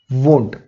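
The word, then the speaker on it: won't: और will not का होता है वोंट, तो ये भी एक अलग प्रोनाउंसिएशन है, यहां पे स्पेलिंग भी अलग है.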